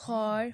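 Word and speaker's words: hour: Next वो क्या कह रहे हैं, it will be noticed that the words हॉर, honest, hair begin with the wall sounds as the initial as इज़ not pronounced.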